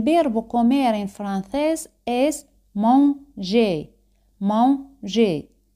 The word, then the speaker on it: manger: El verbo comer en francés es manger. Manger. E y R al final se pronuncian como E española.